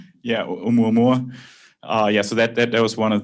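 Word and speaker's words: ʻOumuamua: And Klaus, you could probably pronounce that correctly. Yeah, Oumuamua.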